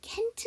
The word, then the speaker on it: can't: 되고요 자 그다음에 여기 캔트 나왔어요 자 여러분 캔과 트의 차이는 뭐다 그지 어떤 거 어떻게 해야 돼요 발음을 어떻게 해야 돼 아니면 듣는 거를 어떻게 구분하기 캔은 약하고 짧게 부정의 트는 강하고 길게 왜 안 된다고 말을